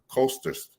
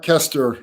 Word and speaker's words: Koesterer: pronounce his name correctly I believe it's our coasters coaster sir it's Kester thank you very much